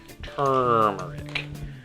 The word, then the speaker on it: turmeric: turmeric like i mentioned tur tur that's how we pronounce that turmeric scoop of that in